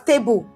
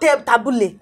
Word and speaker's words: table: It's pronounced as table, not tabule.